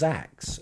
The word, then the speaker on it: Zack: In Japanese, Zack is pronounced Zax.